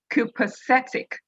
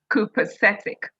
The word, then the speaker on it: copacetic: today's meeting the word of the day is copacetic spelling is c o p a c e c i c pronounced copacetic copacetic means very good or going very well